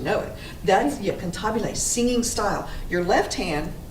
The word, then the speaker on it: cantabile: word means no i love this word it's pronounced cantabile looks like cantabele i know pantebelliano or comptobile